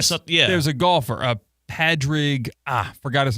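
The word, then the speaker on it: Padraig: the Irish version of the name Patrick is Padrig. Like you're right. P-A-D-R-A-I-G. Because there's athletes named like Padrick. Isn't like a Padrick Tony or something? Yeah. There's a golfer, Padrig.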